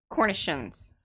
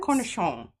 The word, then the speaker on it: cornichon: And is it Cornish or Cornishans? Cornishans? Cornichon. Yeah. See, Eddie wrote it out, and that made me think I didn't say it right.